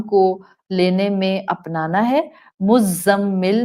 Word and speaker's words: مزمل: مزمل میں زا buzzing sound والی ہے.